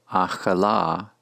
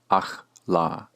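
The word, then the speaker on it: אכלה: Thus, to say she ate is pronounced achala, not simply achla.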